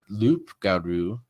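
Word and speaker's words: loup-garou: over here uh they the Lop garoo when Native Americans pronounced it sounded like Ru Garo and so the Native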